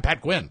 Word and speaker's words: Pat Quinn: it's a Irish name no it's it's two one syllable hi I'm Pat Quinn Pat Quinn Pat Quinn okay Patrick